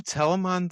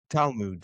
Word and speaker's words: Talmud: Is that a Telemon thing or Telemoon or however you pronounce that? Talmud? Talmud, yeah.